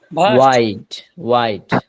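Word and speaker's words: wide: আপনাদেরকে বোঝানোর ট্রাই করছি সে ভিডিওটা দেখে শব্দের উচ্চারণগুলো ঠিক করে নিবেন আচ্ছা ওয়াইডওয়াইড প্রশস্তা শেষে ডি উচ্চার হবে ড ড কারণ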